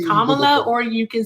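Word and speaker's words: Kamala: What reform has Camala proposed? Kamla and it's Kamla. Say her name correctly or you can just say Harris. There's there's no difference. Kamla.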